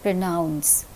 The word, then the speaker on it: pronounce: accent in these words in the word pronounce the second syllable is receiving the accent pronounce pronunciation in this word